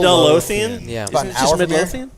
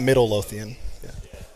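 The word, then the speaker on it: Midlothian: When it's stuff like that, trust me, throw another syllable in there. Midlo. We've done this. It's Midlotheian. I've always said Midloian. Middleian. Middleian. Midlotheian. Yeah. Not Middle Loian.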